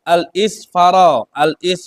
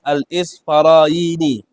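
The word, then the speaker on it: الإسفراييني: faqad falagat balagana, telah sampai kepada kami, anil ustadi Abi Ishaq al-Isfara, bacanya al-Isfaraini, telah disampaikan kepada kami dari ustad yang bernama Abi Ishaq al-Isfaraini rahimahullahu subhanahu wa ta'ala.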